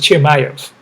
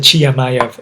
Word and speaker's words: Chimaev: Chayov orim Oh, actually it's Chimayov. I said Chamay. It's Chimayov. All right.